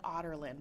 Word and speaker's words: Adarlan: So it's like Otterlin, but it's spelled Adarlan.